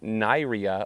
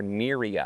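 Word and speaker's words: Nyria: Now, it's it's spelled like it's pronounced Naira or Niraa because it's N Y R I A.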